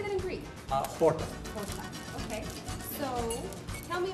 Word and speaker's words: Horta: Horta.